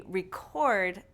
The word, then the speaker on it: record: which part is stressed: We reJECT the REject. We reCORD the REcord. We conVERT the CONvert. We inSULT someone with an INsult. Do you see a pattern here? Yes – these two-syllable verbs often stress the second syllable; the nouns often stress the first syllable.